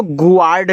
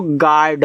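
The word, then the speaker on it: guard: जैसे जी यू ए आर डी, इसको गुआर्ड नहीं पढ़ना है, देखो यहाँ मैंने लिख भी दिया भैया, गुआर्ड नहीं पढ़ते हैं, इसको गार्ड पढ़ते हैं।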